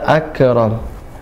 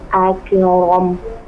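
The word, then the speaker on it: أكرم: Iqra wa rabbukal akram. Nah, jangan coba satu kata aja. Akram. Coba diucapkan satu kata. Akram. Akram. Nah, ya, nafasnya mengalir ya setelah suara terputus. Seperti itu. Jangan akram. Akram. Tapi akram. Ya, coba diulang.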